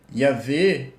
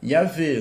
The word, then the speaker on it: Yahweh: a pronúncia, né, era Yahvé, né? Aí no caso, como, né, antigamente provavelmente era W e não V, né? Então Yahweh, né?